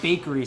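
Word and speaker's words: Bakeri: There's a place called, they pronounce it bakery, but I hate doing that, so I refuse to. But it's bakery spelled with an I, and their pastries are insane.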